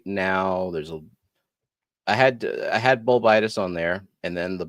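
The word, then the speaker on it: Bolbitis: Bulbitis. You have to put the emphasis on the second part.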